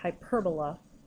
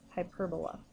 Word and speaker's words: hyperbola: second syll and so when you pronounce it you say hyperbola so try practicing saying that out loud to yourself hyperbola so the equation that